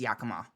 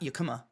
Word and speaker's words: Yakama: And in a place like America where we've effectively genocided Native Americans, it's really important that when a Native American says Yakama, it's Yakama. It's not Yakama or whatever.